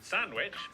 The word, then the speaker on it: Sandwich: the cester in Cirencester, the W in sandwich.